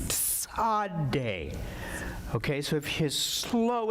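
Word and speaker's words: Tsade: and it looks like that okay and it's pronounced t s a d e sad day okay so if you slow it down you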